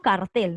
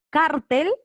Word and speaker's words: cartel: en la cara o tú dices cartel con fuerza de voz en la tele en late el cierto cartel la fuerza de voz está en la última sílaba por eso esta palabra